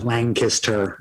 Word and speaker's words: Lancaster: it's spelled l-a-n-g k-i-s-s-t-u-r lancaster lancaster yep that was perfect nailed it yeah lion kissed her well i just ran